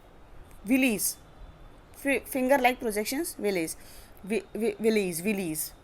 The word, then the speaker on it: villi: तो किसके थ्रू जा रहा है फूड, वो होता है विलीज, finger like projections, विलीज। Willys Willys Willys की स्पेलिंग मैं आपको बता देती हूँ, VILLI, विली।